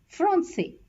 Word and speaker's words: français: Therefore, in order to pronounce as S instead of K, we use the cedille below the letter C before the vowels A, O and U. Example, français, façon, dessus.